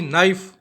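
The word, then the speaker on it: knife: है य के आया नाइफ में के आ रहा है कि नहीं आ रहा यानी के का उच्चारण नहीं हुआ इसका मतलब ये अपना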